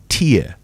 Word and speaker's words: tear: So, the one that rhymes with ear. Okay. Tear. Tear. That refers to the liquid that comes out of your eye.